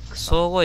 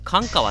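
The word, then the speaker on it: 寒河: 備前福川を出てしばらく総合駅という駅に停まりました。これ関川って読みそうですよね。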